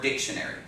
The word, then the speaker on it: dictionary: was to say dictionary where is the accident in the word dictionary the first syllable right dictionary diction it's not